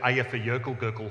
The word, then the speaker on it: Eyjafjallajökull: Richard, I'm sorry, but you've got that slightly wrong. It's Eyjafjallajökull, and then you tried a bit. And I learned it. I spent 3 weeks learning how to say it, and I got it eventually. Eyjafjallajökull. See, that's not quite right.